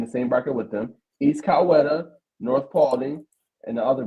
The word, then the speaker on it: Coweta: If you're gonna be covering this GA team, you gotta have the pronunciation right, brother. Sure. So you say East Coweta? Yeah. Okay, East Coweta.